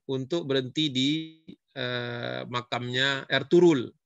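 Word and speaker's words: Ertuğrul: berhenti di eh makamnya erturul yang tulisannya ertugrul bacanya g-nya hilang R turul Gazi kan filmnya lagi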